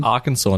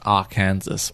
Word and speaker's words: Arkansas: dang it yes see why is arkansas not pronounced r kansas because it's just got kansas with an ar right yeah that's correct